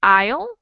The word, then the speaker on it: aisle: We've got AI and topsails and AI and aisle. And what's the difference in pronunciation there?